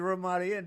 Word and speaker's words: Ramada: In other words, he called it the Ramadan. It's Ramada. Ramadan.